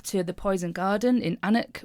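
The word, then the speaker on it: Alnwick: the poison garden in Anuk which is spelled Alwick but I'm told that's not how they say it.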